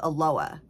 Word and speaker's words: Aloha: So, and you know how you guys say aloha? Well, there's a town, well, it's more like a city, butter hair, here in Oregon called Aloha, and spelled the same way, but it's Aloha.